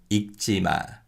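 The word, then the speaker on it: 읽지마: with the leo kiyokyapachan sometimes korean people will pronounce the lear rather than the kiuk in the kyopachin so with these words people might say but the correct way of pronouncing these words is ichima ichima and pakta pakta and with the kia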